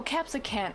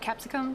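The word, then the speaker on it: capsaicin: uh caps uh oh capsican oh so not capsicum capsican okay capsican to be fair it's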